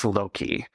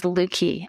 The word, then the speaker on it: Löki: It's L-O with an umlaut, K-I. And what we hear people often say is Löki, but you phonetically spell it a lot. I've heard you correct people a lot. The correct spelling is Löki. The correct pronunciation is Löki, and it's kind of a silly story.